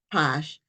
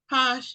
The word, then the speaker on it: Pache: and I believe her last name is pronounced Posh but she will correct